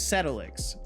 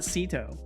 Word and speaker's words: Setolyx: It's Setolyx. Setolyx or Seto. Anywhere within that is completely fine. I mean, you can say it however you like, but that would be how I usually pronounce it.